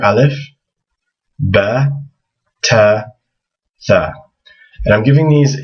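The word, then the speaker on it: ت: The next letter is Ta. It has the same shape. You can see it's the exact same shape, but it has 2 dots above it. And that makes the equivalent of an English T sound. Nothing fancy.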